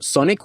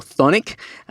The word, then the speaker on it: Chthonic: Now, if you don't know who Freddy Lim is the frontman for Sonic or Chthonic, depending on who you are and how you pronounce it.